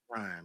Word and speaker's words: Ryan: And we're gonna spell it RHINE, because that's how people say it anyway down here in the South, coming from Houston, Texas. Mm-hmm. So it's Ryan, man.